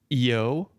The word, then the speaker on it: Eo: And his wife, her name is spelled with just E and O. And so me, an incredible name pronunciator, calls that IO.